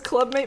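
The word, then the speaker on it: Club-Mate: There's it says Clubmate, but he says it's pronounced Club Mate. I might be getting baited on that. It's not an orange soda, fizzy caffeinated tea. I've heard Mate, yes.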